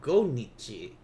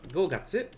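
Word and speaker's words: 五月: by the way because it's not go nichi so go gatsu yes that's great go gatsu and then it's got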